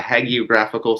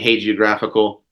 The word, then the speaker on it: hagiographical: uh there's there's actually there's two pronunciations for it which is equally then frustrating um so some people call it the hagiographical society or hegor graphical with a hard G um I say hagiographical um mainly because I